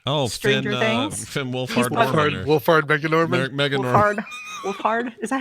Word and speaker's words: Wolfhard: Wolfhard Megan Norman. Wolfhard. Is that how you say it? Wolfhard, right?